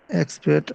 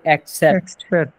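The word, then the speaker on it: except: there is নো মাবুদ এক্সপেক্ট আল্লাহ আল্লাহ ছাড়া এক্সেপ উচ্চারণ কি হবে এক্সেপ্ট এক্সেপ্ট এক্সেপ্ট মানে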